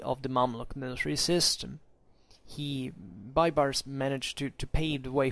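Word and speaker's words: Baybars: Bybar will recur in here. Bybars, actually, it's pronounced.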